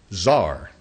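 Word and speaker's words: tsar: the the term Cesar you know how they say it in Russia Zar he's the head of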